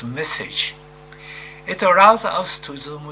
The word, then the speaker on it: MSSG: For this, we use a numerical weather simulation tool called MSSG, pronounced message.